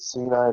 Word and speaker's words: Sinai: Well, when God met with the children of Israel at Sinai, you guys know what is Sinai? You hear it? Sinai, that's how you pronounce it properly.